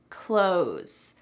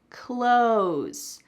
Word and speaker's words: clothes: the last few minutes clothes clothes do you hear clothes nope in American English when we're speaking quickly that th is really cut out completely it sounds exactly like close the door close the door I'm